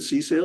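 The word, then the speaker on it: CSAIL: You pronounce it C-Sail or you?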